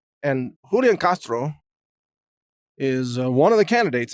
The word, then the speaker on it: Julian Castro: and that is from Julian Castro which I guess you would pronounce hooli and Castro and Julian Castro is one of the